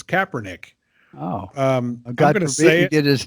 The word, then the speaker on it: Kaepernick: that / Nick yeah I kept kissing her pack Nick it's Kaepernick I've gotta get his